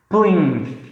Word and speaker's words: plinth: Então, realmente você vai um pouco morder sua língua, a pontinha, porque a gente fala plinth, beleza?